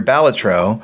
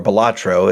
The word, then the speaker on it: Balatro: And, however, when you're Balatro, or Balatro, as I actually pronounce it, even though it's wrong, Balatro got to suddenly